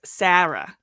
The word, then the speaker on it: Sarah: Oh, it's definitely one cuz I like I mean I west coast say my name is Sarah but anyone from the east coast usually like Jersey, New York like around there it's Sarah and so it like has